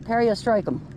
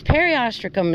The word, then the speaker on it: periostracum: Or some people pronounce it periostracum. Ah. But it's periostracum as far as I was told, so.